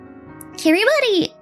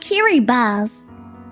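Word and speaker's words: Kiribati: Kiri body is is pronounced kiri bus.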